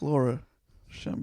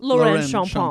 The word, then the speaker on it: Lorraine Champagne: and people say, is it Laura Champagne? No, it's pronounced Lorraine Champagne.